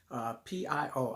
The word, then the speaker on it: Pio: P-I-O. I mispronounced or misspelled his name in another video, but it's P-I-O.